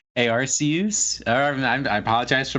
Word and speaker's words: Arceus: days to get Arceus it's pronounced a RC who's actually a RC use arm and I apologize